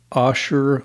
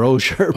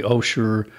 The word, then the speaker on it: Osher: the way that Mr osher okay this is his name well me me mispronouncing it'll help emphasize the right way to say it with which is a long o yes the osher lifelong learning Institute known